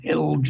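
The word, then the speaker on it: HILJ: This is an excellent article by him in Health Information and Libraries Journal, HILGE as we call it, to rhyme with bilge, back in 2008.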